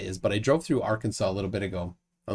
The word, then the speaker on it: Arkansas: Dora and cude Arkansas isn't it Arkansas it's pronounced Arkansas I don't know why I don't know why it's pronounced Arkansas that makes doesn't make sense but it is it's not pronounced R Kansas so there's that well um Arkansas has mountains